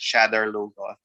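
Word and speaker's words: Shadar Logoth: call it the city i'm mispronouncing it because the the show is pronouncing it another way i i always call it shatter logo a black hole where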